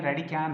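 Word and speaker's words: radicand: ये कैन थोड़ा साइलेंस है, डी को प्रोनाउंसिएशन में लेते नहीं है, रेडिकैन है।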